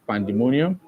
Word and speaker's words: pandemonium: So here you could have pandemonium.